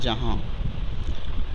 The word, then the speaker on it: جہاں: اور آخری لفظ ہے جیم زبر جا، ہے الف زبر ہا، نون غنہ ساکن، یہ لفظ ہو جائے گا جہاں۔ ان الفاظ کو ہجے